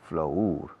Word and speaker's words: flour: Flour, harina, se escribe flour, pero se pronuncia flour, como flor.